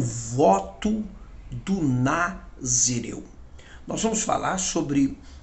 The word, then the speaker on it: Nazireu: É importante nós não confundir, né, essa palavra Nazireu com Narizeu. Então é importante na pronúncia não confundir Nazireu com Narizeu.